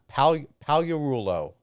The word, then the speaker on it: Palarulo: Palarulo, it's pronounced like this. I spell it phonetically, if I'm saying that correctly. Palarulo. Palarulo.